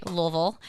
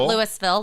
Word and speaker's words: Louisville: My mom is from Louisville, Kentucky. You have to say it right, Louisville. Not Louisville. Louisville, Kentucky. Horse country.